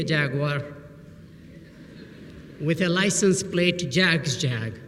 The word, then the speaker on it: Jag: So I was given a nickname, Jag, like in Jaguar. And ever since that association, I've been dreaming of owning a Jaguar with a license plate, Jag's Jag, right?